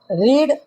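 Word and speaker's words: read: उसमें भी हम पढ़ेंगे रेड। तो रीड first form, रेड second form, future में अरे थर्ड फॉर्म में रेड। रीड रेड रेड लिखेंगे सेम, लेकिन ट्रांसलेशन उसका प्रोनाउंसिएशन अलग होगा।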